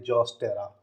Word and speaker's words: Zostera: इसमें कौन कौन होगा, वेलिस्नेरिया, हाइड्रिला, जॉस्टेरा, यहाँ स्पेलिंग नहीं दिख रही होगी, सुन लीजिए, ZOSTERA, जॉस्टेरा।